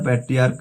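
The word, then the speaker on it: patriarch: এছাড়া প্যাট্রিয়ার্ক আছে, প্যাট্রিয়ার্কের শেষেও এস যোগ করে প্লুরাল করা হয়, শুধুমাত্র সিএইচ এর উচ্চারণ ক হওয়ার জন্য।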